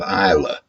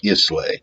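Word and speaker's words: Islay: from the island of Isa and you spell that i s l a y it looks like isay but you pronounce it Isa although in Scottish or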